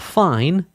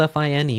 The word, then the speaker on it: fine: Not fine. I know it's spelled f i ne which we normally say fine. We're going to say it differently in music again because it's Italian.